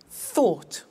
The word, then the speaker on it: thought: Think, thought. Watch that again. O-U-G-H-T, ought.